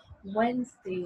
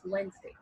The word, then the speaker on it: Wednesday: in the D is a silent it's the pronunciation is Wednesday not on Wednesday it's Wednesday know what it's a date it is 10